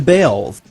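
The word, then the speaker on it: Baals: After all, the family did change the pronunciation of their last name from Balls to Bales.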